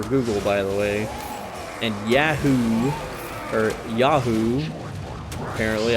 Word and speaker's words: Yahoo: by the way and Yahoo or Yahoo apparently I'm saying it wrong according to people Yahoo it's yahoo it's a yeah yeah oh